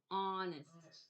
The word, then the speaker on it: honest: next word am honest what do I have to remember about honest what can't we hear at the beginning of that word honest what don't we hear the H I am honest if